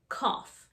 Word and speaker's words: cough: there were two f's the o-u-g-h sound here is like an f cough we also have watery